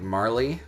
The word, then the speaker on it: Marle: this one gets me I have heard like 25 different pronunciations of this name I've heard like Marley and like morale I believe it heard before I call her moral this is moral so if you don't like the pronunciation of moral and whatever um moral